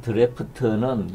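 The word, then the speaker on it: draught: 그 기네스에서 하는 드래프트는 영국에 주로 쓰는 단어인데 큰 통에서 뽑아내다 이런 의미 드래프트죠. 발음은 같은데 철자가 다르더라고요.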